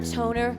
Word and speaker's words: Toner: Another Friday night cruising around Pelham with Mike Morrissey and Chris Tone, aka Tone or Toner, rhymes with stoner, but he wasn't much of a smoker.